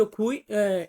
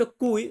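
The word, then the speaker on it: qui: হচ্ছে খাবার এ ফিনিত খুই এফিনিত কুই সরি আমি খুই বলে ফেলেছিলাম এটা হবে এ ফিনিত কুই এফিনিত এটা শেষ কুই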